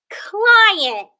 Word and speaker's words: client: Here's the word client. Client. Let's clap the syllables. Client. Cly. Let's spell that. Cool. That's a blend. I. And then we have the syllable ant. Okay? We have that schwa sound.